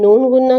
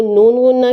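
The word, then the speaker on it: नून ग़ुन्ना: आ जाती है न अगर नुक्ता नहीं है तो इसको नून गुन्ना कहते हैं इसके साइलेंट होता है इसकी आवाज नहीं होती बहुत माइनर सी आवाज अ में आती है लेकिन वो अ इतनी ज्यादा वाजिया तौर पे नहीं बोली जाती देखते हैं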